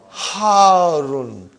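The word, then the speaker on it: حارٌّ: Al-labanu harun. Harun. Because the shadda is on ra. So you got to pronounce it properly.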